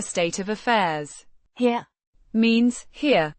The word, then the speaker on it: her: her, Means here. Pronounced. her, Similar to the English word.